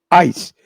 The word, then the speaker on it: ICE: Agencia Federal conocida como ICE AIS, se pronuncia que es inmigración y